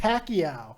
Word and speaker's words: Pacquiao: So I learned how to pronounce Pacquiao's name. That's right. It's in fact Pacquiao.